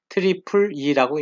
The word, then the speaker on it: IEEE: IEEE, E가 3개이기 때문에 트리플 E라고 읽는 것입니다.